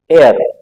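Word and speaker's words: heir: ए जैसे एक और शब्द है एर जिसका मतलब होता है वारिस इसके साथ भी यही होगा यहां पर भी साइलेंट है यहां पर भी क्या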